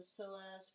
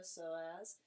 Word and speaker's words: psoas: don't call it the soas for nothing I used to think it was a joke but it's actually um a combination of two muscles that ILO soaz and it's spelled PS OAS all right so that's